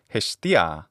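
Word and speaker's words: Ἑστία: In classical Attic pronunciation, that's Hestia.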